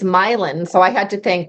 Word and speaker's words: Milan: you pronounce it as Milan like it's actually pronounced milin I it so when we were when we were purchasing the property I kept saying Milan and they were like no that's not right